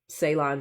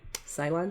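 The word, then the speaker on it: Ceylon: I'm not a black coffee drinker, so I can't drink black mushroom coffee, but I will um add a little salon cinnamon to it.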